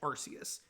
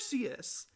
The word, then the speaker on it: Arceus: Yes, that is how I pronounce it. I think Arceus sounds better than Arceus. That's just like when I look at the word, that's how it's pronounced to me. I like it. I don't care that it's not the canon pronunciation.